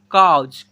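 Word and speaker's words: cause: तो डॉक्टर देखिए यहां पर सी ए यू एस ई इसे पढ़ेंगे कॉज।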